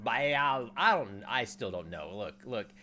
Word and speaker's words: Baal: Ball. Actually, it's not pronounced ball. Somebody came in my comments the other day and said it's actually pronounced Baal.